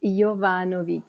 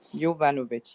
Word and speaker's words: Jovanovic: it that's absolutely it Jovanovic yovanovich yes so I had it right except I didn't change the J to the Y now I said you're